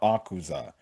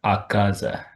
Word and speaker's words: Akaza: try to take down Auza. So you have a moments where it's it's pronounced Akaza Akaza.